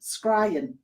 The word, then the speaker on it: scrying: So it's like crying with an S in front. Scrying.